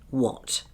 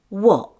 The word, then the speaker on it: what: Look at the word what. Instead of pronouncing the t sound, the air is blocked after saying what, and sounds like this. What?